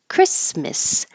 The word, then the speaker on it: Christmas: Christmas. You will hear people say Christmas with an That's totally fine because the mus or miss is not stressed.